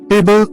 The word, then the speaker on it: table: For example, table, stress on the first syllable.